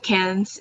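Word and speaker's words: Cannes: let's move on to cans I don't even know if I'm pronouncing that right but is there a way to go about this like it's just can but the S Sil you don't say it maliciously enough can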